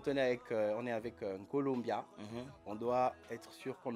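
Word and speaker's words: Nkolombya: Ils pensent que c'est Colombiabia. Colombia. Ouais. C'est pas Colombia de la Colombie.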